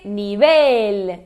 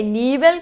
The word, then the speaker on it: nivel: Se dice nivel. Nivel é mais uma daquelas dos casos heterotônicos, né? Então a gente pensa que é nível, como do português, mas é nivel.